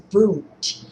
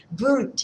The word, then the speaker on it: Wundt: Number three is Boot and that is spelled with a W. Boot in Germany who also started the first psychology lab.